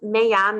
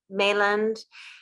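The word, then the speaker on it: Meilland: This is it's Mayan roses, and initially when I looked at it phonetically, I said either Mayland, and I reached out to Matthias Mayan and asked him directly. I said, please correct me.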